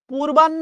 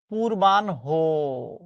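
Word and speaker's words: পূর্বাহ্ণ: পূর্বান্য না। শব্দটা হচ্ছে পূর্বানহ। পূর্বান্য না উচ্চারণ হচ্ছে পূর্বানহু।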